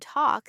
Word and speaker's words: talk: L in talk said I am resting I cross my arms you are making my life difficult.